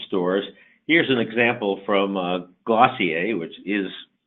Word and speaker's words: Glossier: here's an example from glossier which is pronounced like dossier Valachi i mainly sells